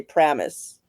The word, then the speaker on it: Paramus: They don't even pronounce the first A. They just say Pramus.